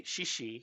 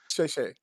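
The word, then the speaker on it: 谢谢: which is yes, and then they would say shishi, which is thank you. Shay shay. Sheshe, I Yeah, say shay shay. shishi, but okay. So you say it wrong.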